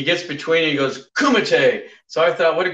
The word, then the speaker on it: Kumite: So was Kumite, is Kumite the right way to pronounce it? Yes, it's Kumite.